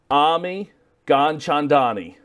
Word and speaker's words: Ami Gianchandani: It's Ami Gianchandani. That's pretty dang close. Oh, so I took some pride in trying to learn it today. Yeah, no, the most important thing is the hard G at the beginning, which you got.